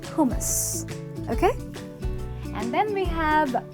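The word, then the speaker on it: hummus: get this one right it’s not hum mus it’s not hou-muse its hoomas ok and then we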